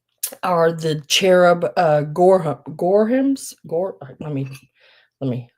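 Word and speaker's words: Gorham: Next up are the cherub uh gore gorehams. Gore let me let me spell it to you.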